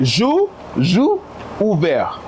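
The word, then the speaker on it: J'ouvert: Jour ouvert. Ouvert. Yeah. I'm sure many people didn't even know that's how it's supposed to be pronounced. Yeah. Well, it's Juve, right?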